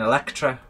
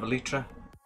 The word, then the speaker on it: Elytra: Sounds like you're saying Electra instead of Elytra. I am saying Electro. Oh, yeah, yeah. She was very fine in that red leather. Not how it's not how it's spelled, so I think it's Elytra, not Electra.